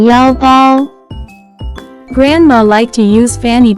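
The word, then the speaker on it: 腰包: can be pronounced as 腰包腰包腰包 Let's break down it to understand it even more. It has 2 characters, with different pronunciation. First character is 腰 pronounce with first tone.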